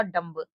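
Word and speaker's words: dumb: तो यहां पर इस शब्द का उच्चारण होगा डंब।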